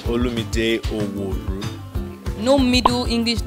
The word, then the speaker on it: Olumide: to mispronounce it right so my name is Ola midday oh boy no Middle